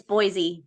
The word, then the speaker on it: Boise: correctly it's just it's Boise yeah just think of the most not-french way to say something and that's how the Americans say it most of the time boys okay boys boys all